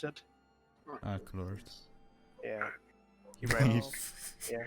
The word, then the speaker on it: Aclorth: But he is said to be rivaling Aclorth, or how do you pronounce it? Aclorth.